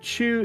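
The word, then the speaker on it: 中: So if it's all by itself, it can be pronounced either way. Diabolical. So Chinese pronunciation onyomi, chugoku. Japanese pronunciation kunyomi, uchi no naka, inside the house, or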